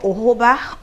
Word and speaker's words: jojoba: Uh The one I liked using is actually the hm jojoba or ojoba oil. That pronunciation is always funny to me. The jojoba oil.